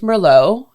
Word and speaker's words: Merlot: started like I learned that Merlot is actually pronounced Merlot and it's a red wine like I had